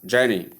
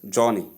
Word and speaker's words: journey: Most people do pronounce this word as Johnny. Please note, this word is not pronounced as Johnny. There is no O sound with it. It is simply the long S sound, as you can see here.